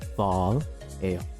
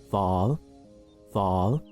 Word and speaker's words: phở: 앞에 ph는 p가 아니라 f 발음이 나고요. 합치면 pho 해주시면 됩니다.